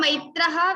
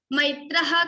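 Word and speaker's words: मैत्रः: According to rules, there is Visarga, Maitraha, Visarga. So ha sound should come. Maitraha Karuna Evacha.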